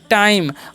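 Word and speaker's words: time: हम इसे पढ़ते हैं टाइम और ई का जो उच्चारण नहीं होता है क्योंकि आई जो है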